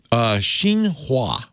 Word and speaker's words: Xinhua: was a report that came out through the Xinhua News Service. Did I pronounce that right? That's your area of expertise more than mine. Xinhua.